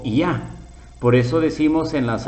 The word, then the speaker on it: Yah: nombre ya que significa llave suena como ya por eso decimos en